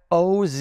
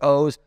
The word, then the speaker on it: Oz: Twitter, and it's at OZ. Looks like Oz. Blame my parents. It's actually pronounced O's, but at OZ the Mentalist.